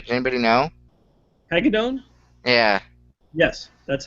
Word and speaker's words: Hagedorn: Hagedorn?